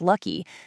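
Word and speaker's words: Lak-Hui: Back in 1947, Ku Inhoe started a company called Laui, which is actually pronounced Lucky, selling face cream and toothbrushes, literally face cream.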